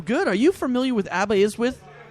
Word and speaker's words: Aberystwyth: Are you familiar with Aberystwyth? It's Aberystwyth, by the way.